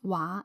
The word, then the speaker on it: 畫: The word pronounced 畫 is a verb, means to draw. And when you pronounce 畫 is a noun, means drawing.